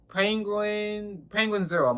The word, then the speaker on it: Penguinz0: today, EDP445 Apologize by Penguin double, O0. Right? Did I say it right? Penguinz0, my fault. I don't know why I said 00.